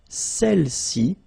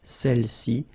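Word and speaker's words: celles-ci: Feminine plural, celle-ci, okay, don't pronounce the final S, celle-ci, celle-là.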